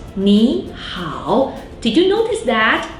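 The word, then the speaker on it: 你好: When I pronounce 你好, did you notice that 你 in this situation will be pronounced as the second tone 你, even though both 你 and 好 are originally third tone.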